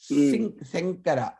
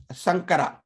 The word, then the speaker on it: Shankara: Shankara, Shankara, from the middle of the mouth. Not Shankara or not Sankara. So remember that.